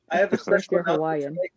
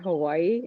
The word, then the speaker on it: Hawaii: just look at the the word Hawaii and and I know that the W is also supposed to be a V and almost every single